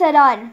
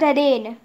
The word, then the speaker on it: Aran: My name is Aran, not Arane. Aran.